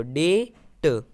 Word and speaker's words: debt: BT आ रहा है, तो हम B साइलेंट रखेंगे। तो इस तरह से DE को हम डे पढ़ेंगे और B हमारा साइलेंट है तो साइलेंट रखेंगे और T को हम ट पढ़ेंगे, तो डे ट। इस तरह से ये हो जाएगा वर्ड डेट।